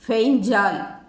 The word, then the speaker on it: Fengal: பேர் கூட வச்சாச்சு, பெங்கால் புயல். ஆமாம், இந்த புயலுக்கெல்லாம் யாரு, எப்படி, ஏன் பெயர் வைக்கிறாங்க? பெங்கால் என்ற இந்த பெயரை சவுதி அரேபியா முன்மொழிந்துள்ளது. அரபி மொழியில் ஃபெய்ஞ்சால் என்று உச்சரிக்கணுமாம்.